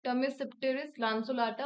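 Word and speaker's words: Tmesipteris lanceolata: सो the next one is, what is टमेसेप्टेरिस लांसुलाटा recently seen in the news. सो ये जो एक type की species है, प्रोनाउंसिएशन इसका क्या है, टमेसेप्टेरिस लांसुलाटा, और एक फॉक फर्न है ये।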